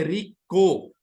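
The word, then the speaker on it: Reko: अगर हम प्रोनाउंस करें वैसे तो स्पेलिंग है आर आई के ओ लेकिन अगर हम सोचते हैं री को ठीक है तो सी सी पर चार्ली ठीक है तो रीको दी कहां पे मौजूद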